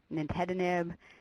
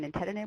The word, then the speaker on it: nintedanib: like no one's on nintedanib which is actually another one and Nintendo I just put on because it's the only way I can remember how to pronounce nintedanib but we'll go over